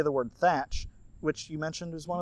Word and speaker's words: Thatch: However, something that most people don't know is that the H is supposed to be silent. So it's tatch.